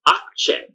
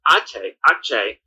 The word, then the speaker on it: Aatxe: It's Akche, and it's spelled Aatxe. Remember, the TX is ch, so it's Akche, the red bull, and it's directly translated as a young bull.